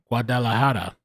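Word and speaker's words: Guadalajara: LA Lao Mundo in 1926 in Mexico uh guadalahara that's how you say it his grandfather and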